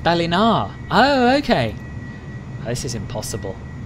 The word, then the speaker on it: Ballina: to berlin have you except here it's pronounced balinar oh okay this is